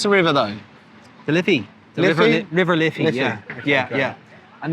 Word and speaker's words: Liffey: And then how do we pronounce the river though? The Liffey.